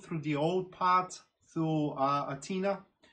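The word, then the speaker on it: Αθήνα: the old part through Athena, because that is how the Greek capital is pronounced, I think, in the native Athena, right? Not Athens, it's Athena.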